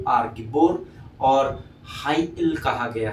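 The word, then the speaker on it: גיבור: जिसका original language में अर्थात हबू में इसको गिबोर हल कहा गया है।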